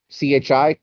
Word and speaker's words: chi: word christos uh is an x which makes the sound of uh c-h c-h-i chi and the p in